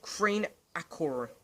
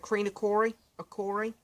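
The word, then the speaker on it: Kreen-Akrore: And then, of course, we're going to close the album with a song called Creen Acor. Acor? I think that's how you say it. Creen Acori?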